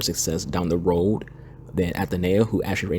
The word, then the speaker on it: Aitana: It is pronounced Aitana, not Athenea or Athena. It's just Aitana.